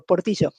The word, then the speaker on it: Portillo: I start working for portig well I appreciate I appreciate your pronunciation there for Chileans for argentines we do the sh sound por well I mentioned you